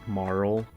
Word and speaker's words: Marle: not what you think I always called her Marley because that's how she was called to me first so I think in moral yeah I think in in traditional uh Japanese and like the when you translate the original text or whatnot it's pronounced it moral but I don't care